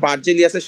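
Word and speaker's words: Berzelius: বার্জেলিয়াসের সালটা ইম্পর্টেন্ট। 4 নম্বরে যে বিজ্ঞানীটার কথাবার্তা বলছে বা যে বিজ্ঞানীর কথা উল্লেখ আছে, সেই বিজ্ঞানীর নাম হচ্ছে বিজ্ঞানী বার্জেলিয়াস। বিজ্ঞানী বার্জেলিয়াস, ইংলিশে এটাকে উচ্চারণ করলে আসে বুর্জেলিয়াস। ঠিক আছে?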